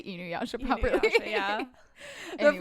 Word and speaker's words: Inuyasha: And in addition to that, pronunciation of character names, like I'm the one that thought that Inuyasha's name was Iyunasha.